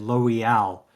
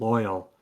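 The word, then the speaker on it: Loial: does pronunciation wise, but he said Loal instead of loyal and I thought, you know what, that one's actually better than than how it is in the guide and whatnot.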